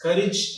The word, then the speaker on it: courage: That is courage and heritage. Often we pronounce these two terms like courage and heritage.